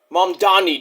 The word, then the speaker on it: Mamdani: We'll see what Mamdani does. Not Muhammad Gandhi, but, you know. He kind of rhymes with Gandhi, but he's not Indian, but he's a Muslim.